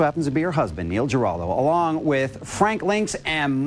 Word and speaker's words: Neil Giraldo: and her musical collaborator, lead guitarist, co-producer, who also happens to be her husband, Neil Giraldo, along with Frank Lynx and Myron Grombacher. Did I pronounce it right?